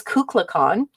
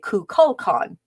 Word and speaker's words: Kukulkan: made fun of because he could not uh pronounce kukul khan he says kukla khan uh while the rest of the actress say kukulkan it is said to